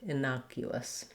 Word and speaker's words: innocuous: letter u and uh so you want to just think about that as though there were a little y letter y in there the u sound inaugu innocuous we do have the clear oo vowel there and then we end with a schwa sounds just like the word us or you can even